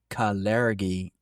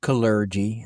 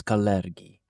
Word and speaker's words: Kalergi: a deep dive into the topic of the caleri plan. And yes, that is how you pronounce it. It's not colly, it's caleri.